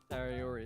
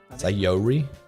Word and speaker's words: Sayori: It's cute that you spelt my favorite person's name wrong. Did I? How do you say it? Natyuri? Sayuru? Sayori, there's an O in it somewhere. Oh, is there? Yori? Sayori?